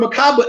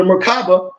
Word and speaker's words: Merkaba: And it seems other cultures of the Merkaba spelled different ways, M-E-R-K-A-B-A-H, M-E-R-K-A-B-A, M-E-R-K-A-B-A-H. And these are several pronunciations, but generally you pronounce it as if there were 3 syllables.